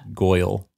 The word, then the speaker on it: Goyle: to let you know it's pronounced Goyle Goyle Goyle like she was the prettiest Goyle in the whole world exactly like that awesome